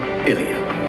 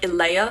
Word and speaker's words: Illea: A new nation was born, Ilia. Interestingly, the 2012 pilot pronounces the country's name like Ilea.